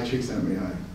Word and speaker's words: Csikszentmihalyi: So another great accomplishment of my life is learning how to pronounce this man's name. Getting high, Csikszentmihalyi.